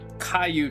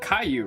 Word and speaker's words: Caillou: of What else does Caillou do besides I'm not crazy, right?